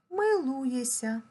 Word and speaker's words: милуєшся: смієшся а вимовляємо смієся пишемо милуєшся а вимовляємо милуєся пишемо прислухаєшся а вимовляємо